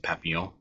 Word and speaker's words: Papillion: So it's kind of neat because I've seen people still pronounce it Papillon, and that's great because that is actually what its name was. I searched and searched, and I'm sorry, Papillion, I couldn't find any